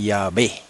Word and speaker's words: Yahvé: Dice, aunque los judíos no pronuncian el nombre sagrado, los samaritanos lo pronuncian Yahvé.